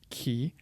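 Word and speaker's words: chi: a little bit less guttural to it so key key and then there's this letter which is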